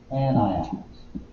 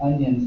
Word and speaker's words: anion: Negative ions are called anions. Okay? That's not onion spelled with an A, it's anion.